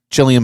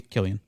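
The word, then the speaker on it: Cillian: Giamatti the holdovers uh chillian Murphy Killian it's Chilean is it Chilean yes am I right on that no I'm not I thought it was chillian no pronounced with a K oh Killian okay well I stand corrected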